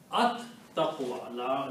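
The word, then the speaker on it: التقوى: And when you recite these together, the lam is not recited because ta feels the sound of lam. So it is recited at taqwa. At taqwa. Lam is not pronounced, but ta is pronounced twice because ta is a shamsi letter, gives the sound of lam. So the pronunciation will be at taqwa.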